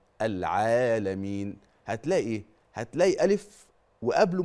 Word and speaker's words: العالمين: العين العالمين العالمين طيب وهنا لازم اقول ملحوظه بعض او البعض الذي يقرا يقول ايه الحمد لله رب العالمين كده زود المد الطبيعي عن حدوده زود عن حركتين دي ما ينفعش دي خطا صريح وواضح وجلي وايضا التقصير في المد